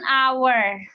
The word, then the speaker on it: hour: aw Kenapa pakainya awarna aldya Kenapa karena cara bacanya Iya cara penyebutannya Awards Aduh Lu yang ribet n hour dia tuh nah terus kira-kira ada yang depannya